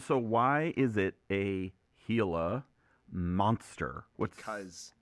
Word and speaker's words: Gila: This is the Gila monster. I'm joking. It's the Gila monster. Little me would be upset, but yes, it's pronounced Gila monster.